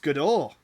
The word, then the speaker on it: Godot: He's a lot smarter than me when it comes to this sort of stuff, because it's pronounced Godot.